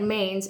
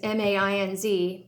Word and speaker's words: Mainz: It looks like Mainz, M-A-I-N-Z, but it's pronounced Mainz.